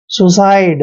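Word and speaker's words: suicide: इनसाइड next word देखिए एस एस का उच्चारण श करते हैं और यू को उ की मात्रा पढ़ते हैं और सी का उच्चारण यहां पर स करेंगे क्योंकि जब सी के बाद आई आता है तो सी को स पढ़ते हैं और आईडी का उच्चारण आइड करना है सुसाइड दोस्तों सुसाइड होता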